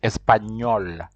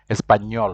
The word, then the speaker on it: español: of the end when when you see that accent it means you have to pronounce that and as if it is something like new so it is espanol espanol we never see that